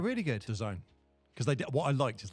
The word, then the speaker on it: DAZN: people were like DAZN, and it's DAZN. That's what it's supposed to be like, as in the zone sort of thing.